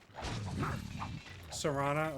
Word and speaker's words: Serana: Ooh, is it pronounced Serana or Serena? I can't remember how she pronounces it. That's a good pick. Tifa and Pan Am from Cyberpunk. Those are probably two of my biggest ones. Serana, okay.